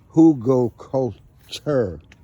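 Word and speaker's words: Hugelkultur: It's spelled h u g e l k u t u r ho culture gardening.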